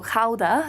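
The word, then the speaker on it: Gouda: the cheese weighing house so so Howa spelled like guda is famous for the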